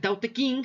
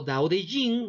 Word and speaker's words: Tao Te Ching: Y obra de autor antiguo tenemos a el Tao Te Ching, o Dao de Jing, o Dao de Ching. Hay muchas formas de pronunciarlo dependiendo de la traducción, que es un libro filosófico moral del autor chino Lao Tse.